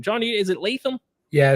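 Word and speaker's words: Latham: did I nail that name John is it leam yeah it's JC leam uh Blue Chip Prospect coming out you know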